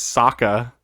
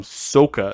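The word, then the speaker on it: Sokka: on the other character his name is Saka and they call him Soka this is like they took every vowel and they're like how can we how can we mess up the pronunciation yeah how can we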